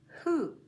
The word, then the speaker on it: who: The unusual pronunciation of O at the end of the word is in to, do, who. It's very unusual to say oo with one O.